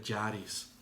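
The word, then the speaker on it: χάρις: es una palabra que viene del griego que se pronuncia yaris y el significado primario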